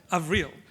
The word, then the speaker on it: Avril: For those of you, I only just learned how to pronounce the first name just then. Okay, so Avril.